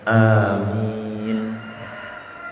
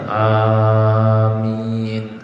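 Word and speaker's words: آمين: Dan setelah membaca ayat ini, yang kita dianjurkan membaca amin. Huruf alifnya, ya, hamzahnya itu kan mad badan, dibacanya 2 harokat saja. Jadi waladhdallin, amin, jangan terlalu panjang, amin, keliru. Jadi 2 harokat saja, amin.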